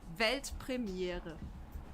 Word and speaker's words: Weltpremiere: It's actually Weltpremiere. Pretty similar, Yeah, right? I think I could do that. Yeah, do it. Weltpremiere.